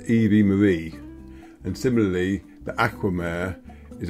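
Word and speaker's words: Ivi Mare: to call the hotel on the right the ivy May it's actually pronounced eie Marie and similarly the aquamare is actually pronounced aquamie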